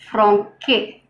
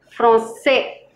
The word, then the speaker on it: français: For example, if you write it like this, it's wrong because the pronunciation is franque. Say followed by A, it needs to retain the original S sound. You put the sedi below the C. Français.